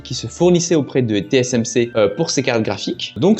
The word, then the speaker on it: TSMC: La dernière fois notamment, je vous avais parlé du fait que je comptais acheter TCMC. TSMC pardon, que je prononce bien cette fois-ci.